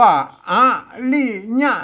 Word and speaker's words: อริยะ: หัน ชัด นะ ครับ ขอ อ่าน ว่า อริยะ นะ ครับ อริยะ อริยะ นะ ครับ